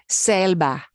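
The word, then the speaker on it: selva: Spanish if you see the letter e you pronounce it okay here's a word for Jungle selba yeah that notice not cell no magnitude here's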